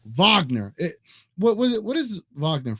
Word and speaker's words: Wagner: uh Isaac you definitely want to get those vogner Vagner it what what is Vagner from is what